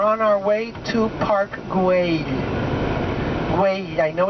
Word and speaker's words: Güell: And we are on our way to Park Güell. Güell. I know it's difficult to say, but the same way you say day, you can say Güell. Because the double L is always a Y sound, and it's unusual for